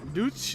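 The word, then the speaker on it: Deutsch: Duch is how you say German in a German language.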